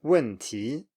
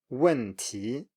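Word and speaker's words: 问题: falling and then rising. So 面条, noodles, 面条, or 去年, last year, 去年, 去年, and then 问题, 问题, problem or question.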